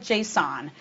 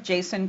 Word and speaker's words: JSON: Some people call it JSON and some call it JSON. I did a little bit of investigation and discovered that the original developer of JSON calls it JSON, so I'll do that too.